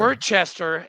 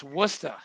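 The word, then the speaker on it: Worcester: in New England okay it's not Hey listen Worchester it's wora I'm a Midwestern kid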